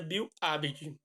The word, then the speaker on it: Bill Aberdeen: Se pronuncia Bill Aberdeen.